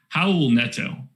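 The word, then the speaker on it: Raul Neto: klein can hear me you don't pronounce uh the r like an r it's an h how old neto we're teaching some portuguese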